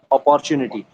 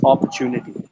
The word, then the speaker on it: opportunity: So most of the people here in India say opportunity, whereas that Hmm. is not correct. Okay, it's opportunity.